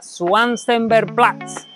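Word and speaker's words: Schwarzenbergplatz: And well, friends, now we are around Schwarzenberg Platz square. If my German The little I know of German does not fail me, I think it is said like this.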